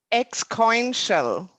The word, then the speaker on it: exponential: Exponential. Maybe myself I say it wrong, but X like X, and then coin like coin, and shell, the ending of financial.